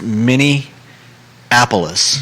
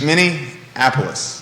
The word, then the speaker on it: Minneapolis: you were saying that there's no n in the middle it's many apollos mini apollos yeah somebody commented yesterday